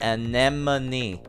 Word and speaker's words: anemone: sees an enemy enemy please know that it's pronounced anemone anemone those colorful sea creatures with the tentacles right many and then